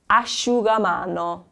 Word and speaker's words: asciugamano: The IU sound is like, well, this one, the SC is followed by an I. So it's a more blended sound with the I, and then it's followed by a U, so it's asciugamano.